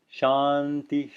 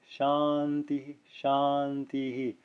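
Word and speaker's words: शान्तिः: not the middle ones you'll just hear shaun t shanti shanti he that's not technically correct you should hear you should make it clear of a circuit even if it's in mid-sentence it can be softer than the final one it can be like it can be subtle like this Shawn the Shawn the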